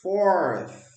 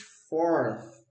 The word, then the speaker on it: fourth: Mark finished fourth. Fourth. Bota a linguinha aqui no dente, ó.